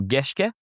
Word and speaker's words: Gerrans: Okay, so Simon, I've only ever heard your name pronounced by Australians and we are notoriously bad at pronouncing any surname that is not English. Is Gerrans or Gerrans?